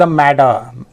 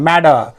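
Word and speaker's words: matter: है क्या बात है यहां पे हम ड उच्चारित किए ध्यान दिया आपने क्योंकि एक नियम ऐसा है ना कि जब भी दो वाल्स के बीच में टी अथवा डबल टी लगा हो ना तो वो टी को है ना हम हिंदी में ड उच्चारित करते हैं मैडर क्योंकि अमेरिकन एक् में ऐसे ही बोलता है जसे वाटर है ना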